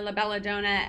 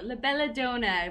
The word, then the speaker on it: La Bella Donna: name i was saying a lot of people say it la bella donna la bella donut um but i wanted to say it properly because it does have such a beautiful meaning in italian so la bella dona we're so excited yes